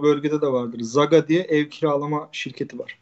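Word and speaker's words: SAGA: Zaga diye ev kiralama şirketi var. Büyük bir şey. S-A-G-A diye yazılıyor. Zaga diye okunuyor.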